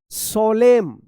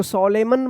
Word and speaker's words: solemn: चलिए अब देखिए यहां पे SOLEMN, क्या पढ़ेंगे, सोलेम, सोलेम पढ़ेंगे, सोलेम, इसको सोलेमन मत पढ़िएगा, एन जो है ना यहाँ पे भी साइलेंट रहेगा।